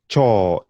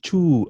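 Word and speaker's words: choo: For example, the word toilet would be saying chaw. Can you try and pronounce that? Chaw. Remember, it's not chew.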